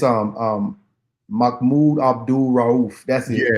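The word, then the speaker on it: Mahmoud Abdul-Rauf: It's um um Makmoud Abdul Rahul.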